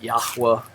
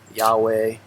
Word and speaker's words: Yahuwah: evidence that it was pronounced yahuwah yahweh um yahuwah uh with the yah at the beginning and the vav not being a consonant it's it's a vowel just like uh in